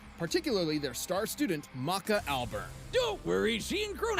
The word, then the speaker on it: Albarn: Despite their name, Death Academy wasn't exactly a fan, particularly their star student, Maka Alburn. Don't worry, she and Crona I thought it ended up pronounced Albarn.